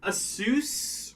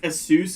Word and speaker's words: Asus: get on that tangent, I've always wondered if it was pronounced Asus or Asus. I think it might actually be pronounced Asus because it's supposed to be like Pegasus. So I think it's actually Asus.